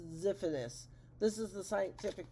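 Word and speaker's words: Xiphias: well we found one Zee Fitness Gladius pronounced zephanus this is the scientific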